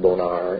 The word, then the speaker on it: Bonner: To the west of Sloptown Road on Lake Michigan is an area called Bonner's Bluff. And that was another family, John Bonner, who actually, his name would have been pronounced Bonar in Gaelic.